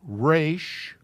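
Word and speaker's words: Resh: dalid bate race okay this word is pronounced race r-a-y s-h and it's an arts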